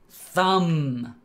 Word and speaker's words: thumb: thumb. When a word ends in MB, nothing else, just MB, normally the B is silent.